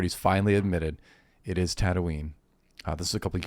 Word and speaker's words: Tatooine: friend growing up that he would pronounce Tatooine Tatooine, and I was like, even when I was like in 6th grade, I'd be like, no, it's Tatooine.